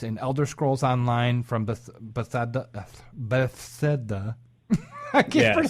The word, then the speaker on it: Bethesda: And Elder Scrolls Online from Bethesda. I can't pronounce it.